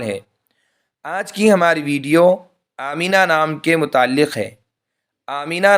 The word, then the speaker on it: آمینہ: لیے استعمال ہوتا ہے۔ صحیح تلفظ آمینہ یعنی آخر میں ہاں کے ساتھ، جس کے معنی ہے